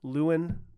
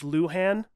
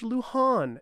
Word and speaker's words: Luhan: everybody out there, and very specifically to the pronunciation police that are all out there, relax, okay? I've been saying Lewin for Mabel Dodge Lewin. My apologies, for Mabel Dodge Luhan.